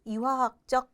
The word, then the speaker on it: 이화학적: 자연적 환경은 또다시 이화학적 환경하고 생물학적 환경으로 나뉩니다. 이화학적이라고 하는 거는요. 물리와 화학을 합쳐서 부르는 말이에요. 물리의 리자가 맨 앞글자로 나와서 이로 발음되는 겁니다.